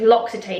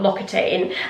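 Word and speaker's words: L'Occitane: this it's the right someone told me you pronounce it loxitane so it's loxitane not loane um shower oil almond this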